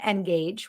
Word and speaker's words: NGAGGE: tell from our name engage which is spelled cleverly n-g-a-g-g-e sounds like engaging engage with your customers